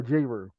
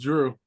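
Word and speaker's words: Jrue: Is it Drew or J-Ru? Drew Holiday. It's spelled J-Ru. It was Drew. All right, Drew Holiday. Come on, you know how these mothers be. You know what I mean, giving names. So they spell it one way, pronounce it another way.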